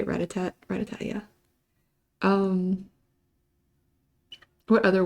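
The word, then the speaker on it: Rattata: Uh I love Ratat because it's little purple rat is how you say Ratat.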